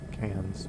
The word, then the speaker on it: Cairns: weird because can for a while I thought cans wherever it is.